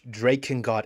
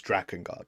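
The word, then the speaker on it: Drakengard: You know, Draken Guard is the wrong pronunciation. It's Dragon Guard, but you know what?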